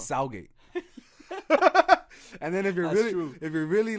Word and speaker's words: Southgate: If you're from around this area or close to, like, a 10-mile radius, no one ever pronounces the TH in Southgate. Oh no, it's Southgate.